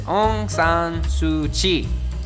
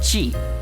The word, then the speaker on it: Aung San Suu Kyi: And her name is Aung San Suu Kyi. It's like, it basically looks how it is pronounced, like it's spelt, except the end part, K-Y-I, it's pronounced Chi, right?